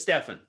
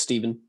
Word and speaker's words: Steven: Is it Steven or is it Stefan? It's Steven.